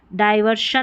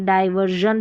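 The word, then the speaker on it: diversion: एस आई ओ एन ही लिखा जाता है स्पेलिंग में। तो यहां पर सभी में देखिए आर आर दे रखा है और इसको डायवर्शन नहीं पढ़ेंगे। डायवर्जन पढ़ेंगे।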